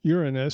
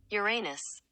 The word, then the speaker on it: Uranus: I pronounce it Uranus so as to avoid all the humor that seems to undeservedly go to the seventh planet from the sun. Okay, the proper way to pronounce it is Uranus.